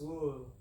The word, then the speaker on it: Louisville: It's not Louisville, it's Louisville. You gotta say it like you got a lot of dip in your lips. Louisville. The more mumble, the better.